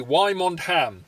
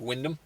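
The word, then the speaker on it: Wymondham: seven going from norwich and from windham actually why mont ham it's uh it looks like but it's actually pronounced windham i know norfolk names uh going to just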